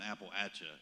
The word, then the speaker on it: Appalachia: my hand um and we always say like you would throw an apple at you is how we pronounce it that's how we can